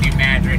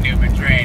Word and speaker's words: New Madrid: The only reason I pronounced New Madrid correctly and didn't pronounce it New Madrid is because my spiritus teammate Sam, who is from St.